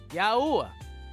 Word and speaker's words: Yahweh: Pronounced Yahoo. Ah, Yahwa. He says, "Tell them Yahweh, the Elohim of your fathers, has sent you.